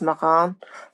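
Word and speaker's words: Marans: Now, I've heard the name pronounced both Moran and Moran. I tend to go back and forth between them. The French town itself is actually pronounced Moran, but in America, we tend to Americanize words a little bit.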